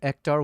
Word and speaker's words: Ektar: So the film stock profile is called Kodak Ectar 100. Yo, that wasn't how I remembered how to spell it, but I said it right.